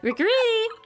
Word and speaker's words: Riccariti: And I was like, oh, because it's named after like a bird call. So I say it like a bird call would be.